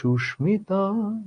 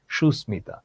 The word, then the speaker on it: সুস্মিতা: এটার উচ্চারণ হবে সুস্মিতা, কিন্তু যদিও সুস্মিতা বলে থাকে কিন্তু সুস্মিতা নয়, এটার বাংলা একাডেমি অনুযায়ী এটার শুদ্ধ উচ্চারণ হচ্ছে সুস্মিতা।